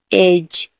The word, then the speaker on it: edge: EDGE, एज। एज में भी जी से पहले डी है तो डी का हम उच्चारण नहीं करेंगे।